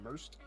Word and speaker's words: Merced: but a while ago, I was pronouncing Isabella Merced's name wrong. I think I was saying Merced, but it's pronounced Merced, so there you go.